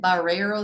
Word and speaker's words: Barreiros: having me here glad to be here and baros is perfect great pronunciation so it was right I thought I